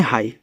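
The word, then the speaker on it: high: एच आई जी एच को हम पढ़ते हैं हाई।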